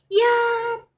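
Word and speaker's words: 一: So ang pagbigkas niyan guys ganyan. Yat. Yat. Pag nagkamali ka yat. Mali yun. Yat.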